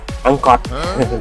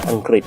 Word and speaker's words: อังกฤษ: นะ ครับ นะ นล ก็ มัก จะ พูด ว่า ภาษา อังกอ นะ ครับ ซึ่ง จริง ๆ แล้ว ก็ คือ ภาษา อังกฤษ นั่น เอง นะ ครับ เรา ออก